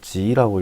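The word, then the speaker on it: 极: 자, 다할극자는 중국어로 지라고 읽힙니다.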